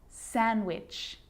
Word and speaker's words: sandwich: Wednesday, handsome, sandwich. So I'm not pronouncing the D in sandwich. I'm just pronouncing the consonant N sound before it.